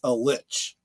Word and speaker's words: Lich: like Kathleen Kennedy elore is Lich there you go and L with an L not with with well that she might be other things that rhyme with Lich but Lich is an undead evil creature um and thank you